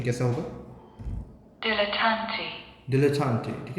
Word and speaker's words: dilettante: Okay, so आप pretender है ना, we have a pretender, dilettante.